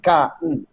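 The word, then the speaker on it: Kahn: acá sólo queda porque el h no se pronuncia entonces es philip k por eso acá al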